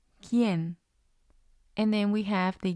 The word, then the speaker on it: quién: Or we also have the QUI combination, as in quién, quién.